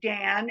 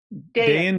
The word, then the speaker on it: Dayan: some people pronounce it Dan and some people prounce it Dayan so which do you prefer oh Dian day in day out that seems more sophisticated anyway so okay so